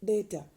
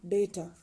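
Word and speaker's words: datter: e r for daughter in Danish it can be pronounced as data d a t t e r data for brother b r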